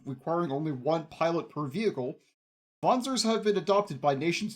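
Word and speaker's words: Wanzer: a complex worldwide conspiracy voner it's pronounced with a V because I believe it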